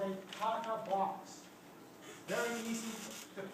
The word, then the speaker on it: TATA box: It's a 6-nucleotide sequence called a Tata box. Very easy to pronounce the actual DNA sequence because the actual DNA sequence is a whole set of variants based on TA.